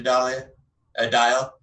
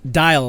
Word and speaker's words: Dial: Bardic Inspiration to Dial. Sorry. Burn him. Dial, like the soap.